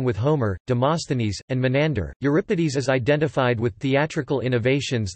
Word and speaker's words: Euripides: Euripides, Greek, Euripides, Euripides, pronounced EU, RE, PI, DS, C, 480 C, 406 BC, was a tragedian of classical Athens.